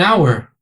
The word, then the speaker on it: hour: algumas poucas exceções an hour uma hora h is not pronounced ou seja o h